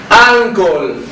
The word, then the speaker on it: uncle: Uncle. Recuerda lo que te había dicho. Todo lo que termine en LE se pronuncia OL.